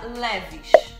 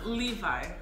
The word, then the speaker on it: Levi's: No Brasil a gente pronuncia Leves.